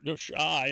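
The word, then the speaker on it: Xi: no, Jim, she says that all, or Shy, how you would pronounce it.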